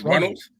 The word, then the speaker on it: Runnels: Then we got how do you actually pronounce their last name? The Runless? The Runless? Runnels? The Runnels. Yeah, okay, it's Runnels.